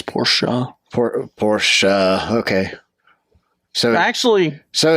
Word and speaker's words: Porsche: It's 2 syllables, Porsche.